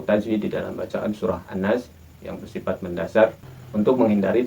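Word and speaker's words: الناس: Di sana hendaknya dijaga pelafalan berharakah panjang. Setidaknya kita menjaga dengan 4 harakah. Kita bisa menghitungnya dengan tangan. An-Nas.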